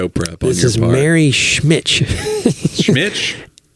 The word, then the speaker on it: Schmich: This is Mary Schmitch. Schmitch? SCHMICH. Schmitch. I want to say Schmick at first, but that's an H at the end.